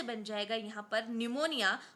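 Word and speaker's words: pneumonia: बन जाएगा यहां पर निमोनिया और निमोनिया की स्पेलिंग पी से स्टार्ट होती है तो ध्यान रखेंगे ठीक है न्यू से निमोनिया आ जाएगा पूरा और ह से आ जाएगा हैजा।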